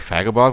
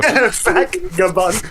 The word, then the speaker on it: Vagabond: I know I'm saying it wrong because he gets angry at me because I call him like Vagabond with an F, but it is with a V. So, Vagabond.